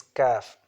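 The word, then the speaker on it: ك: And next one is Kaf. It's also from deepest part of the mouth, but is from the hard plate of the deepest part. So it's like Kaf, Kaf, Kaf.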